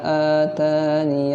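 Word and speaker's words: آتانِ: Cara yang pertama dibaca dengan atan. Nah, jadi huruf ya-nya tidak dibaca ya, huruf ya-nya tidak dibaca, itu cara yang pertama.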